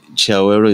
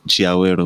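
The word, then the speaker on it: Chiawelo: But Chiawero, it's a Venda name. Oh, okay. You know, so that's how we pronounce it. Chiawero, which means a resting place or where you relax.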